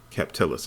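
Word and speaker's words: Kapatelis: also vanessa uh catalyst a k kep telus excuse me cap telus is how it's pronounced in the movie uh kimberly brooks as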